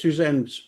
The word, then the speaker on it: Susanne: So anytime Suzanne's on something giving her website and she says, "Hey, it's Suzanne's bureau."